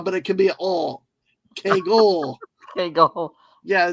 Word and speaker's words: Kagle: Yeah, the point is the hard sound. All right. Well, nobody else. People always say to me when they were always pronouncing my last name, they're like, "Hey, it's Kagle." I'm like, no, don't say the E. I'm not Italian.